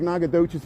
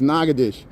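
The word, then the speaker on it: Natchitoches: the two Nagadoshas, but the one in Louisiana, they pronounce it the French way. Nagadish. Am I saying it right? It looks like Nagadocious, but it's Nagadesh.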